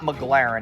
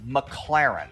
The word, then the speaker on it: McLaren: because he couldn't pronounce McLaren he says the name wrong like eight times in a row it's not McLaren it's McLaren okay so that's how we know this guy